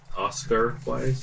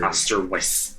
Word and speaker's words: Osterweiss: Oscar Wise or Oscar? Osterweiss.